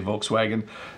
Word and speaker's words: Volkswagen: This is Volkswagen, or I think I'm supposed to say Volkswagen, but in English we usually just say Volkswagen. It's a very Englishified pronunciation of it, right?